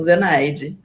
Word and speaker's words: Zenaide: A sua mãe é Zenaide, é assim mesmo que pronuncia? Isso mesmo, Zenaide.